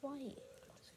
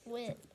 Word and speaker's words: White: Not his last name is not pronounced White. It's pronounced Wit. I used to think it was White, but it's Wit.